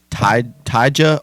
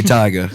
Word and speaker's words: Tyga: Like Tyja or Tyga. Tiger. I always said Tyja. That is definitely Tyga. I always said Tyja because I was like, Tyga isn't spelled like that, you know. It's spelled Tiger. Yeah.